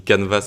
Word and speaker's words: canvas: Donc déjà, juste pour la prononciation, ça se dit canvas avec un S en anglais et on a quand même le mot can français qui veut dire à peu près la même chose.